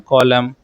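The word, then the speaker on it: column: Which letter is silent in सोलम एंड कॉलम।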